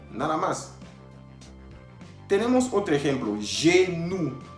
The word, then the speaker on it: genou: Tenemos otro ejemplo, genou. Genou, que significa rodilla, la rodilla. Al final estamos oyendo OU. OU, que quedamos que se pronunciaba U. Entonces, leyendo todos juntos, vamos a decir genou. Genou.